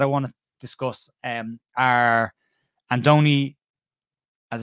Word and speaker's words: Andoni: And the two main candidates that I want to discuss are Andoni, as it's pronounced, Iraola, Andoni Iraola, who is currently the manager and head coach at Rayo Vallecano.